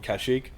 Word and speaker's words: Kashyyyk: Obviously, the gameplay bit you on Kashyyyk, which seems to be a staple of Star Wars games at the moment.